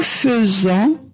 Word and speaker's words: faisons: nous faisons. alors لاحظوا حتى النطق بالنسبة le verbe faire هنا رغم أن عندي AI فأنا أنطقها feu.